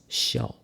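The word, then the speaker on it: 孝: Filial piety or filial duty, pronounced as xiao. That's right, exactly the same pronunciation as laugh.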